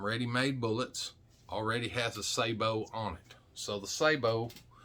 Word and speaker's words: sabot: bullets already has a sabo on it so the sabo is separate some people call this a sabot but it's not it's pronounced sabo because it's french for thingy that goes